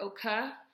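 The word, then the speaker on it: OKeh: They recorded for OK Records. I think it's pronounced OK or OKA. It's spelled O-K-E-H.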